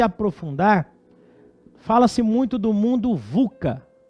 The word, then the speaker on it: VUCA: fala-se muito do mundo vuca vuca mesmo é dessa forma que se pronuncia que na verdade é